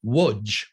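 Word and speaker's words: Łódź: the nearby town of Lodge or as it's pronounced in Polish the capital L would have a slash through it and would be pronounced Woods um they were neighbors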